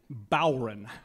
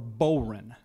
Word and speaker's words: Bodhran: So it's a it's called a it's spelled like this: Bodhran, and you pronounce it Bowron or Boran.